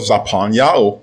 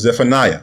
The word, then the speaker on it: Zephaniah: Now let's go over to the book of Zaphaniah, mispronounced as Zephaniah, chapter 3 and verse 9.